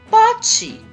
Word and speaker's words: pote: Eu digo pote, mas eu não escrevo poti. Eu escrevo pote.